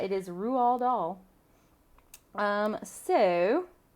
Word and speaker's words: Roald Dahl: his name we learned that tonight it was raw doll so i was concerned growing up it was raw doll it is not it is rual doll um so how to celebrate read or reread